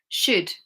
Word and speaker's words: should: It has to be L right after the vowel and the vowels are in the middle of the word.